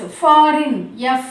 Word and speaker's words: foreign: G is silent because it comes before the letter M.